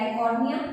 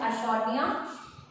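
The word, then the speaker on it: Eichhornia: तो aquatic plants की बात करें लाइक आइकॉर्निया, समटाइम्स दे से टू बी आइकॉर्निया, बट the correct pronunciation is आइशोर्निया।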